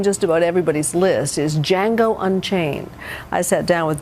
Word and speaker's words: Django: And yet, here they are, facing off in one of the most daring movies of the year, Django Unchained. What's your name? Django. The D is silent.